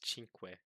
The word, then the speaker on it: cinque: Because in Spanish it's cinco, in Italian it's cinque.